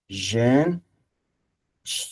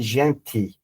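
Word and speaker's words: gente: از ا اومده ژن معمولاً در زبان پرتغالی تی رو چی تلفظ می‌کنیم حالا اگر شما تی هم تلفظ بکنید هیچ مسئله‌ای نیست می‌تونی بگی ژنتی ژنته می‌فهمن بیشتر مردم می‌فهمن ولی خب در می‌تونم بگم که ۹۰ برزیلیا یا ژن چی تلفظ می‌کنن. حالا توی پرتقال اونا ژن تلفظ می‌کنن. همون تی تلفظ می‌کنن در پرتغال.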